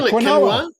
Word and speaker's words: quinoa: And Nicole says, Dad, please learn how to say quinoa. How do you say quinoa? Ala, you're woke. How do you say quinoa? Just how you said it. Yeah, quinoa.